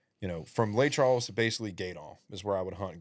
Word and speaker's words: Gueydan: Gaydon. All right. Gaydon. I'm just trying to It's make sure spelled- It's spelled this Gooey correct. Dan, but it's Guidon. Gaydon. Gaydon. Gueydan. Gooey Dan.